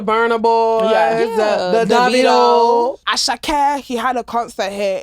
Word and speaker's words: Asake: It's pronounced Asake. Asake.